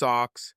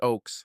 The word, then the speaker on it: Oaks: staring at my badge hello Miss Ox he said mispronouncing my last name many people do this hello sir I replied pronounced Oaks like trees got it he said